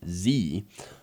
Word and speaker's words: Xe: But Blackwater and companies like Blackwater, I think the newest name is Z with XE, or that's spelled XE, in case you were wondering.